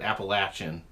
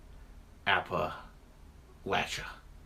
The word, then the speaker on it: Appalachia: app aan growing up my wife who's from here from App Appalachia I called it Appalachian my wife called you know kept correcting me that I was saying it wrong people here in this part of Appalachia call it APPA lcha I got T